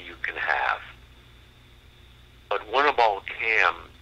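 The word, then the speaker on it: Kamm: Now, the ironic part of it is, have you ever heard of the CAM effect? No. It's spelled K-A-M-M, and it's named after a German scientist named Winnebald Cam.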